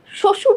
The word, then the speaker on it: শ্বশুর: শ্বশুর যে শব্দটা আছে, শ্বশুরে একদম শুরুতে আছে বফলাটা। বফলা যখন শব্দের শুরুতে থাকে, তার কোনো উচ্চারণ থাকে না, বা তার জন্য কোনো বর্ণ দ্বিত্ব দিতে হয় না, দ্বিত্ব যায় না।